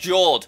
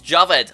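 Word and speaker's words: Jawed: lots of people think that his name is pronounced Jord but it's not it's Javed I checked bit of trivia for you so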